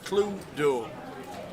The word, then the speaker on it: Cluedo: The password is spelt C-L-U-E-D-O, Cluedo. Well, if it's 2 words, it would be Clue-do. But it's Cluedo.